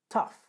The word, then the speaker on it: tough: Troisième mot, tough. Tough, c'est la même prononciation que enough.